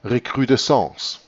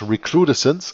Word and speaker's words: recrudescence: It is then, of course, pronounced recrudescence. But you can also pronounce it English, recrudescence, and then it means an escalation.